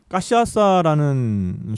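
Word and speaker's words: cachaça: 까이피리냐는 까시아사라는 술로 만드는 칵테일이에요. 까시아사. 까시아사. 제가 발음을 맞게 했나요?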